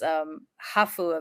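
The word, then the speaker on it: ハーフ: Is I went to this hafu event. Hafus are what Japanese call mixed people. It's English, it's half, but in Japanese pronunciation, hafu.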